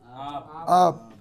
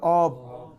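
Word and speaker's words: آب: আব। আর আধুনিক উচ্চারণ বললে অব।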